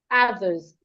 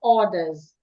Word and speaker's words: others: Then the next word others. Ah, my mouth is opened a bit. It's not orders. Orers is spelled o r d e r s. So these two words are not pronounced the same way. This one is a. It has t. Your tongue should be outside. This one is order. Or orers. Others.